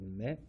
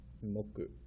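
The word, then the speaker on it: 目: The way we pronounce this, the kunyomi, is me. It does have an onyomi, moku, moku, me and moku.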